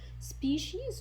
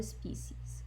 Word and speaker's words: species: Okay, and I'd like to draw your attention to something, that the word species is pronounced either species or species. Both pronunciation are considered to be accurate.